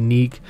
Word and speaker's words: GNIK: KD Neek. Her username on here is KDGNIK. But she just goes by GNIK, which is pronounced Neek.